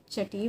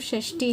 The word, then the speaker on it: षष्ठी: बोल के उसको हम छठी बोलने शुरू हो गया। असली में तो षष्ठी है, षष्ठी माता कहते हैं, छठी माता नहीं, षष्ठी माता।